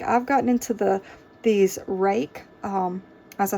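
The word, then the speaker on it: Ruike: I believe this is pronounced rake. R-U-I-K-E. I believe that's how I've heard it pronounced.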